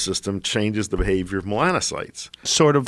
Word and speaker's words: melanocytes: Melancolites? How do you say it? Melanocytes.